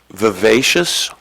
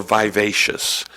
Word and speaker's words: vivacious: The word is 2 pronunciations, vivacious or vivacious.